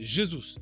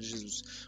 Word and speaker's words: Jesus: Voilà, je vous apprends un petit fun fact, les brésiliens et portugais, les J comme ça se dit J, ça se dit pas R comme en espagnol. Voilà, petit cours. Donc c'est Gabriel Jesus de base.